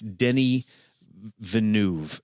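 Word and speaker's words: Villeneuve: butchered his name so it doesn't look like what you you would think it is it looks like dennis or denny it's denny venue is how you say his last name i would have never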